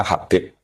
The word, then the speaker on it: Habib: Itu di harakatnya kitab itu ada yang nulis Hubb. L yang benar. Oh nggih. Yang benar itu bacanya Habib.